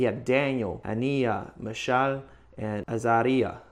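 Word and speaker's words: Azariah: He had Daniel, Aniia, Michal and Aaria. Aariah.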